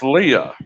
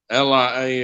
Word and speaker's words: Leah: So I was like, Okay, her that's name is pronounced Leah. Okay, Leah. Lia is same as Leah.